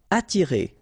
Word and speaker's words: attirer: Attirer, okay? Don't pronounce the double T. You only pronounce this. Attirer, attirer.